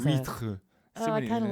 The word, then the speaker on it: huîtres: Can't Well, pronounce it in oysters. French. Les huîtres. Huîtres.